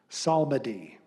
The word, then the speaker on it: psalmody: Samadhi. Alternate pronunciation, psalmody. Very subtle difference.